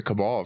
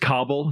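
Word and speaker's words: Kabul: Yeah, I I asked the same question about the Cabal for a while. Like, I'm trying to get a part of this thing. It's pronounced Kabell. It's in Afghanistan.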